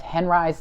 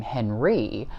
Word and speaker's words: Henri: Oh, a quick note about the pronunciation of Henri's last name. It's natural to want to pronounce this in a French manner, Henri. But Henri, who was born with the surname Henri, but later changed this